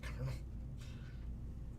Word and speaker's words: colonel: Since he was in the military, maybe we can just call him Colonel. Colonel. Like popcorn.